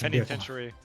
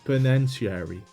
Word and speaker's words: penitentiary: I I mispronounced that, but I just penitentiary. Penitentiary. I was like, I said something different, but what did I say? You said peniary.